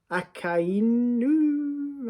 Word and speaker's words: Akainu: Akainu, I believe, is how you say his name.